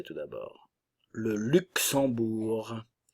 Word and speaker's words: Luxembourg: et lituanien lituanienne le Luxembourg le Luxembourg le G ne se prononce pas ici nous avons la nasale en et le U français tout d'abord le Luxembourg o u le ou